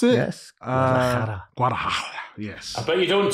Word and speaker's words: Guadalajara: Is that how you pronounce it? Yes. Guadalajara, yes.